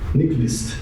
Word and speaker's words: Nyquist: Ele vai falar Nyquist, então, que é próximo, né? Tá? Mas mais ou menos assim que pronuncia. Nyquist, ok?